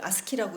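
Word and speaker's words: ASCII: 일단 아스키 코드, 이걸 아스키라고 읽습니다.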